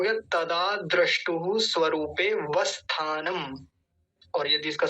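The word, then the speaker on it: द्रष्टुः: तदा द्रष्टुहु, दृष्टुहु नहीं लिखा हुआ है, द्रष्टुहु लिखा हुआ है,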